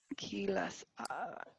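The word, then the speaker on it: Kisi: k-i-s-i k-i-s-i yeah p-c it's pronounced keyless keyless entry it should come up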